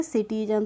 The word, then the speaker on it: citizen: जैसे CITIZEN, तो इसको हम पढ़ते हैं सिटीजन। तो इसमें सी के बाद क्या आया है, आई आया है, तो इसलिए हमने इसको सिटीजन पढ़ा है, इसको हमने किटीजन नहीं पढ़ा है।